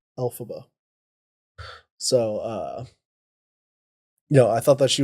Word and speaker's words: Elphaba: Elphaba. Alphaba. Oh, it's A. Alphaba.